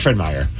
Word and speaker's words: Fred Meyer: Fred Meyer or Fred Myers.